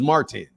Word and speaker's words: Martin: Puerto Rico too much my name is Martin Martin and pronounce that T I like that so